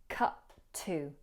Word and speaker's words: cut to: In this phrase, we merge the two T's in cut and to. So we hear cut to, cut to.